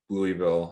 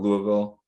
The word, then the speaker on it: Louisville: Yeah, we just Wes and I were at a buddy's wedding in Louisville at the end of, or did I pronounce that wrong? Louisville.